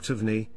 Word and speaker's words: Taverner: According to this source, Taverner, or Tavney, as the name is locally pronounced, felt something get up